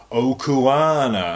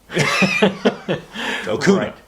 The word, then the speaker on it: Okuna: them over Twitter, and they pronounced my surname Okuana, and I was like, Okuna. It's Okuna. It's very simple.